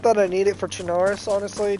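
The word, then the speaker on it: Chernarus: Not that I need it for Chinaris honestly. Chinarus I'm basically have memorized but or Charus I think is actually how it's pronounced.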